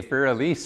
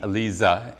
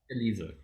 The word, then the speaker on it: Elise: in german is is pronounced like a z in english so a voiced s and you always pronounce